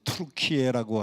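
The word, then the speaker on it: Türkiye: 터키 그러니까 추수감사절 때 잡아먹는 칠면조 터키 그거하고 발음이 같다고 나라 이름을 좀 바꿔 달라고 그래서 트루키에라고 하는 이름으로 바꾸었는데 트루키에라고 하는이 글자는 터키 사람들의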